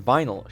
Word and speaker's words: vinyl: the exact opposite problems the VIN in Vineyard should be pronounced Vine and the VIN in vinyl should be pronounced Vin